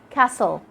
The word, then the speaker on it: castle: Letter T is silent when it comes after an S in words like castle, whistle, listen, fasten. And with the last letter we have today, letter W.